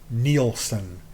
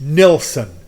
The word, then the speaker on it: Nilsson: also mispronouncing Harry's name you keep saying neelson it's not neelon it's nson n i l s s o n and if you